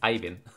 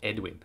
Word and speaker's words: Eivind: It's like my name in English is Eivind. It's not Edwin.